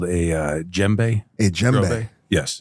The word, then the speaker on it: djembe: The D is silent. It's silent. Silent, yes.